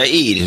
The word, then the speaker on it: Eid: How do I pronounce Hajj? Is it Eid? It's Eid, isn't it? Yeah, Eid.